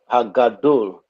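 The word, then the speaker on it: הגדול: hadol Hagadol. Very good. Ha'ish Hagadol. Because of the dagesh, a deep sound.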